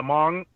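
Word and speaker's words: Hmong: um the H the Mong excuse me the pronunciation is mong but there's an H in it so it's Mong so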